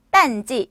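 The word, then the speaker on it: 淡季: 자, 비수기는요, 딴지, 성수기는 호황지. 자, 그럼 여러분들만 가실게요. 자, 성수기는, 그쵸, 비수기는 그렇게 발음을 해주시면 됩니다.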